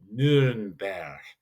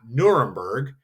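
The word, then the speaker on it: Nürnberg: Nuremberg not Nuremberg but Nuremberg. That would be how you would pronounce Nuremberg in German.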